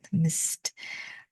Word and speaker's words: Msst: we are looking at M MSS that's how you spell it Mist uh which is a